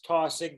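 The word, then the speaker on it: Taussig: And the last name is Tossick, that's spelled TAU, double S's in Sam, IG.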